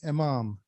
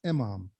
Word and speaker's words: Emam: There are two different words, one in Arabic, one in Persian. In Arabic, it's Imam, which is spelled with an I. In Farsi, it's Emam, which is with an E.